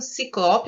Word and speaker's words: ciclope: Ciclope, acho que essa daí não dá para errar, né? A gente ouve sempre assim mesmo. Ciclope é uma paroxítona e não tem acento.